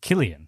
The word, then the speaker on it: Cillian: Oh, Cillian. Killian. Yeah, we're both wrong.